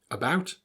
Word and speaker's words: about: how to pronounce them about around again the act sound that you read is actually pronounced as an up sound the schwa now you might think